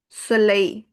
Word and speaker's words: soleil: soleil E I is there, so it will give you the sound of I at the end. soleil Soleil is sun.